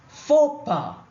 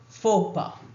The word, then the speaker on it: faux pas: The French expression faux pas, when used in English, means a social blunder, some terrible mistake which is socially embarrassing, which is unacceptable. Faux pas.